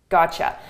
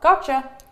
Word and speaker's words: gotcha: So a T and a Y together. This is pronounced as a ch, ch.